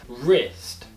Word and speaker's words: wrist: Uma outra letra, que seria uma letra muda, quando nós tivermos uma palavra que tem a letra W, e logo após a letra W tiver a letra R, essa letra W vai ser uma silent letter. Nós não iremos pronunciar a letra W na palavra. Como, por exemplo, right, wrist, wrong, rap.